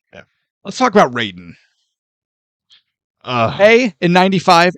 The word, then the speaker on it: Raiden: His name is Raiden, R-A-I-D-E-N, Raiden, not Ray, like a Ray got...